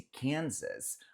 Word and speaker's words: Kansas: Nota que esse Kansas, o S no final a gente fala, mas o S do meio a gente pronuncia com som de Z.